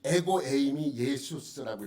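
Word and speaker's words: ἐγώ εἰμι Ἰησοῦς: 여기 보면 여기 이제 노란 줄로 쓴 것이 에고 에이미 예수스라고 읽어요.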